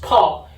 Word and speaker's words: 炮: In Chinese, it's pronounced 泡.